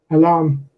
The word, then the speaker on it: alarm: on the first syllable alarm alarm has the stress on the second syllable salad stress on the first so we can go